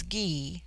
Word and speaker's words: Gy: the singular with man the word for woman is ghee pronounced hard as in guy it forms itself into jaia for the plural but the G becomes soft in the plural like j-y-e-i they have a proverb to the effect that this difference in pronunciation is symbolical for that the female sex is soft in the concrete but hard to deal with in the individual the Gaia are in the